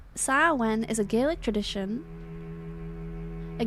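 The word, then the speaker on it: Samhain: Sam Hayne approximately pronounced Sen. Sawen is a Gaelic tradition.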